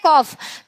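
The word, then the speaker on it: calf: Child का, कॉफ का क्या हो जाता है? देखिए बाबू, इसको पढ़ते हैं कॉफ, कॉफ पढ़ते हैं, क्यों? क्योंकि एल जो है इसमें साइलेंट है, ठीक है, एल जो है साइलेंट है।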